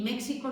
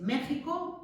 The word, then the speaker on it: México: quedado allí fosilizado, pero a la hora de pronunciar no tenéis que decir ni México ni Texas, es México y Texas. Y esa X, algún año, hace muchos años lo preguntaban, ¿cómo se leía esa letra? Esa letra en castellano se lee como J, porque viene de esa J del siglo XVI, ¿de acuerdo?